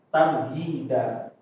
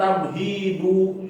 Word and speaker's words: tamhid: Jadi dibacanya tamhida apa tamhid? Ya, tamhid ya. Karena akhirannya harokatnya ini. Tapi kalau akhirannya harokatnya an, berarti da. Kalau akhirannya harokatnya enggak ya, khusus an doang ya. Jadi kalau akhirannya tetap tamhid. Jadi jangan tamhidu ya, itu keliru kalau tamhidu.